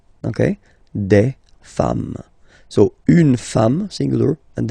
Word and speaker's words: femmes: and then you just add this S at the end, and as we said, you don't pronounce it, so you get des femmes, okay, des femmes.